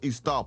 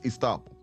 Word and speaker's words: estoppel: And it is pronounced Estoppel, because she's gonna say it two ways because she's unsure, but it's Estoppel.